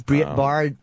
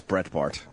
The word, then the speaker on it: Breitbart: What time is Briette Bard coming? Briette Bart. I believe 9. I think it's Brett Bart. Yeah. I think you're right, actually.